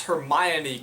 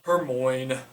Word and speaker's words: Hermione: I did not pronounce heran correctly. Hermon. I'm not sure I pictured any.